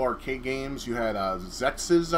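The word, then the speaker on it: Xexex: games you had uh zexes i think it's called it's x-e-x-e-x i think it's pronounced zexus i could be wrong you had um god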